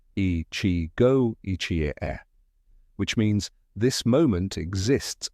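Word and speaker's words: 一期一会: Okinawan culture embraces Ichigo Ichie, pronounced Ichigo Ichie, which means this moment exists only once.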